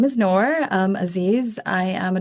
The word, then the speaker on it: Nur: My first name is Nor.